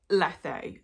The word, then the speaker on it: Lethe: House, also known as Leith. Well, I think it's Lethe. I think that's how it's actually pronounced. But the way that it's spelled in the UK, you would pronounce that as Leith.